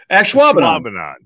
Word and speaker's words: Ashwaubenon: Ashwaubenon.